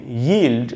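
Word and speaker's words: yield: ये य का ही साउंड इसमें है, ई का साउंड नहीं है, ईल्ड नहीं बोल सकते, य को ही घुमाएंगे, यील्ड ऐसे करके आपको बोलना चाहिए।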